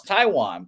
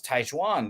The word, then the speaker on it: Taijuan: and I was like, "Oh, it's Taiwan," but he was like, "No, it's Taijuan. That's how they say it."